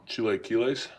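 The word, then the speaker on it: chilaquiles: the uh pork rind chili kiles I cooked this morning yeah what do you call them Chile KES mhm got I know it's close yep that's how they say it in Mexico for sure do you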